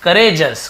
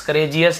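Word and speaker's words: courageous: Valiant, bold और करेजस, करेजस, करेजियस नहीं, करेजस यानी कि बहादुर होना, वीर होना।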